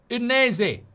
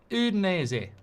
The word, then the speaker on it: Udinese: Udinese. Udinese.